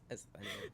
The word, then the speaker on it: Asthenia: At first, when I remember first hearing the album, I always thought it was, like, anesthesia, but it's Asthenia.